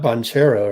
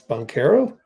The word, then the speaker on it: Banchero: It's not Banchero, right? It's Banchero.